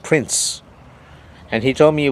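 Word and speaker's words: Prins: He said his name was Prince, P-R-I-N-S, pronounced Prince.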